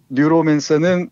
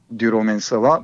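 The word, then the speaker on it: Neuromancer: 그래서 뉴로맨서 이렇게 읽기도 하고 그러는데 예. 정확히는 뉴로맨서라고 읽어야 됩니다. 그러니까 신경 체계를 조직하는 자 이 정도를 읽을 수 있을 것 같아요. 예. 그러니까 뉴로라는 그 신경을 의미하는 말에다가 맨서라는 뭐 조작하는 자, 조작하다 이런 말의 결합어로 보면 될 것 같습니다.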